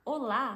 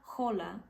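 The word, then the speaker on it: hola: favor não fala rola não fala rola porque a letra g não tem som e eu tô falando isso porque eu já vi várias pessoas falando assim especialmente no Brasil nas aulas de Espanhol tinha gente que falava rola porque tem um h ali no começo mas o h vocês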